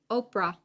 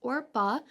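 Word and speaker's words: Orpah: names are or orpa I want to say or Oprah every single time I say her name I think when I did the Ruth podcast I probably did say it but it's Ora um and Ruth and so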